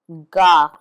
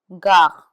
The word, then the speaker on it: gare: Gare, gare, which means station. It's followed by an A.